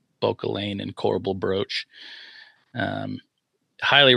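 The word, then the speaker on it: Bauchelain: So it's B A U C H E L A I N Bokealain and Coral Brooch.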